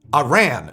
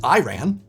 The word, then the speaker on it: Iran: Do you know Iran is pronounced wrong by mostly everyone except Iranians? The I is supposed to be pronounced like Italy.